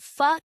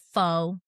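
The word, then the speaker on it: phở: And I looked over I said, "Sweetie, do you know that it's pronounced fa and not pho?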